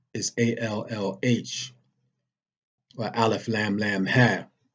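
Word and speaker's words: الله: have perverted that name all which that's how you would pronounce a-l-l-h just like the english word all with the h on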